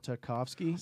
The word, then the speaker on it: Tartakovsky: How do you pronounce this? Jendi Tartakovsky? Yeah. Sure. Tartakovsky.